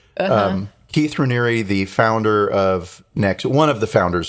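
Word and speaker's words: Raniere: but HEC name reri he pronounces his last name reri I I'm I've heard it as reri um in prep for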